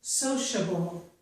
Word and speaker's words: sociable: This is sociable, sociable. So the CIA sounds like sh, sociable. Here, TIA also sounds like sh, inertia, okay?